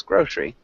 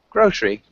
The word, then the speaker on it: grocery: word grocery grocery yeah so it's almost just two syllables grocery yeah grocery and then we'd say